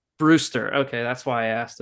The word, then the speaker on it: Armbruster: It's pronounced Armbruster. Brewster.